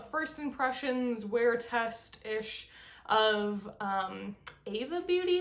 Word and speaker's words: Aeva: I'm gonna kind of do a first impressions wear test-ish of Aeva Beauty, I believe it's pronounced A-E-V-A.